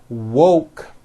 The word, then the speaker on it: woke: mispronounce these two words instead of saying woke when they say it it sounds like walk so instead of saying